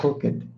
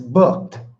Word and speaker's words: booked: It's not looked. It's not booked. It's booked.